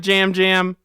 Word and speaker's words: Yam Yam: It's Jam Jam. It's spelled Yam Yam, but it's he pronounced pronounces Jam it Jam.